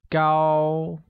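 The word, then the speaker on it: 高: let's begin with tall tall becomes go and carries a high level tone like go good hair translates as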